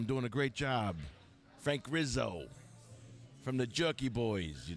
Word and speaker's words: Rizzo: mayor of Philly Frank Rizzle really you got to say it like The Jerky Boys Frank Rizzo Jeremy see with the